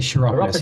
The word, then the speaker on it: chiropodist: chiropodist. He says a kind of a hard C. I would say chiropodist.